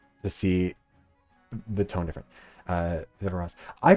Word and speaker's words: Viveros: Anyways, Viveros was the young men tribe, and I picked up the name because of how Jeff Probst pronounces it, which is Viveros.